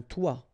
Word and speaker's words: toit: Okay, and then both of them are pronounced like toi, un toi, toi.